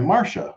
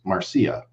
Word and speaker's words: Marcia: I posted a video about Marcia fudge, and I was pronouncing it Marcia because it's spelled Marcia. Okay. And somebody corrected me and they said, well, actually it's pronounced Marcia.